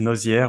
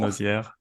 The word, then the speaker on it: Nozieres: And my last name is Nozieres, which is absolutely impossible to pronounce for the Americans. I even thought about like changing it because nobody can pronounce it. So Nozieres.